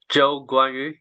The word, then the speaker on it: Zhou Guanyu: we should call you I would say Joe guu because obviously Joe sounds like very English name but it's actually the way how we pronounce my name in Chinese so people call me